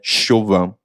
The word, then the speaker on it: Siobhan: negócio assim e geovan que escreve siobhan mas é chuvão hein tem nem também